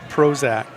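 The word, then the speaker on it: Brozik: b r o z i k and it's pronounced proac yeah see I can make anybody laugh that's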